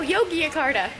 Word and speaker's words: Yogyakarta: When they said it, it sounded like Jakarta. And we're like, aren't we in Jakarta? And they're like, no, Yogyakarta.